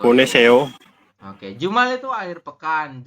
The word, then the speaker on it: 보내세요: Bukan soyo. 보내세요.